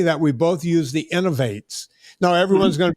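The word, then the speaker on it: Inov-8: Folks, it's a European company and it's spelled okay, INOV and then the number 8. right. Yeah. Oh, Innovate. I loved them.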